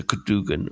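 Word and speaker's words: Cadwgan: So it's spelled Cadwgn, so Cadogan or Cadogan.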